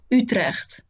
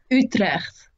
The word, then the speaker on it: Utrecht: how do you pronounce this university? Utrecht. Yeah, I'm not gonna be able to do that. You can. Say it one more time. Utrecht. Utle.